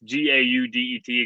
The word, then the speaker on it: Gaudet: I'm Gaudet, and it's Gaudet, again, French, spelled like Gaudet, but it is Gaudet.